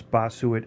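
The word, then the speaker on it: Bossuet: disrespect the language uh the way they pronounce Basu and French I believe is BAS it's actually um Bas Bas Bas uh the t is silent and yeah you can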